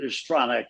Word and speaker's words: Stronach: Is it Stronic or Stronac? How do you pronounce your name perfectly? Well, yeah. Stronic. It's It's Yeah, it's easy to pronounce. Stronic.